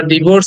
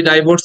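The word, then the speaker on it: divorce: ওই আরটাকে সাইলেন্ট করে হয়, আরটাকে উচ্চারণ করা হচ্ছে না ব্রিটিশ অ্যাকসেন্ট অনুযায়ী, ডিভোর্স, ডিভোর্স।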